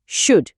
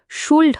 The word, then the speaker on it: should: কিন্তু খেয়াল করে দেখুনশুড শব্দটার বানানে একটা এল আছে তাই না কিন্তু ওটা একদম চুপচাপ থাকে মানে সাইলেন্ট তাই এর উচ্চারণটা কিন্তু সুলড হবে না হবে সুডশুড